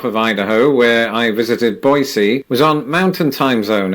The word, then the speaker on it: Boise: at the airport in boisey also if you're wondering why I'm pronouncing it boisey instead of Boise that's how the locals told me to say it so if they